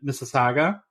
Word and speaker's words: Mississauga: because we had a little bit of trouble pronouncing the city initially, and we practiced last week, and it's, of course, in Mississauga, right?